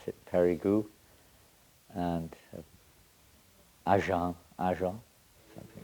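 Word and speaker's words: Périgueux: We pronounce it Perigu and Ajang.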